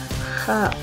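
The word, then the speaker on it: خ: The letter kha has the sound of kha. It is not found in English and its place of articulation is made by the upper throat. Please try to pronounce it kha, kha, kha.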